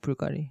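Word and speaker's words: Bulgari: 까르띠에도 있고 까르 그죠 스펠링이 bvl이잖아요. ul이에요. 예. 그 그냥 로고가 그렇게 된 거예요. 불가리.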